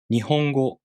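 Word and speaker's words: 日本語: into a foot first for example nihongo ho is followed by um so we group these morals together first so hom takes one b to pronounce and ni and go take half a b to pronounce nihongo nihongo nihongo let's do a quiz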